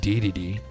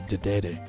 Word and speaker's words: Dedede: Now, King Dedede, which I believe is pronounced Dedede in the game Smash, and in Japanese it would be Dedede, is from Kirby's Dream Land.